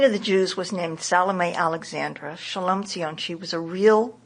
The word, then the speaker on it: Salome Alexandra: you say her name salame Alexandra salame Alexandra but Jewish people called her shalom cion shalom how did you